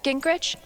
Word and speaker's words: Gingrich: there you are well she looks happy SE Gingrich is that how you say it yeah that's